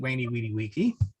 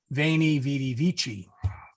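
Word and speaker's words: Veni, vidi, vici: So as I said, Caesar would write Weni Weedy Wiki and would pronounce it Weni Weedy Wiki, whereas Pope Benedict XVI would very sensibly say Veni Vidi Vici.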